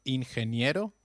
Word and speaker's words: ingeniero: Did you notice the pronunciation of ingeniero? G, when followed by E or I, takes up the sound of a stressed H.